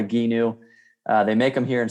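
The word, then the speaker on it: Gheenoe: love it oh yeah it's called a ginu g-h-e-e-n-o-e everyone mispronounces and butchers the name when you read it but it's called a ginu they make them here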